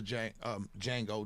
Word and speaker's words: Django: But so one of the things that I read was one of the criticisms that I read about the Django, the D is silent.